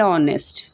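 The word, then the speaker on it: honest: The word our एंड ऑनेस्ट begins with the letter H what the एच is silent.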